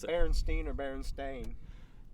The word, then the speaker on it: Berenstain: So I personally love VHS, going back, watching, the Berenstein Bears, or however you want to pronounce it. Berenstein or Berenstain?